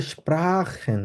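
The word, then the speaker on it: sprechen: পেশা আচ্ছা তারপর হচ্ছে স্প্রাখেন এই জিনিসটা মনে রাখতে হবে স্প্রাখেন খ এর মত উচ্চারণ করব যেমন স্প্রা এস পে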